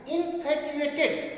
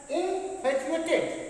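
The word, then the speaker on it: infatuated: तो उसके लिए यूज करेंगे आई एम कंप्लीटली, ध्यान दीजिएगा, इनफैचुएटेड, प्रोनाउंसिएट कीजिए साथ में, इनफैचुएटेड, क्या बोलते हैं, इनफैचुएटेड with her, आई am completely इनफैचुएटेड with her, क्या बोलेंगे, इनफैचुएटेड, क्या बोलेंगे, इनफैचुएटेड विथ हर।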